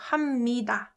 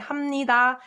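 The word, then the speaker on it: 합니다: depending on like people some of you will hear also hamidah but you don't have to like take this too seriously it really depends on people like i pronounce it like hamnida or some people pronounce it like hamidah because it's more convenient for them so i'm just mentioning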